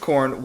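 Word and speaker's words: Khorne: of the warriors of corn before entering. I'm sorry, the warriors of what? K h o r ne, but I think it's just pronounced corn. Like the like the new metal band.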